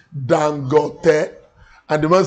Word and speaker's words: Dangote: He said, some people wrongly call him Dangote, Dangote. He said, no. He said, the right pronunciation is Dangote.